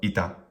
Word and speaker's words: ita: One that's very common, the word ita, which means thus or so, ita. Short, short. We can even mark the duration of each syllable underneath it.